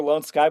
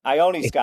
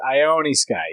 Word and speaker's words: Ione Sky: See, I like how you keep calling her Lone Sky, but it's I. It's a capital I. It looks like an L. Ione Sky. It does. Ione Sky.